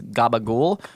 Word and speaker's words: capicola: actually Southern Italian affectation the same reason capaca becomes Gaba goul so that's why we